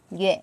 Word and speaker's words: 樂: Y e yue, không đọc l mà đọc yue.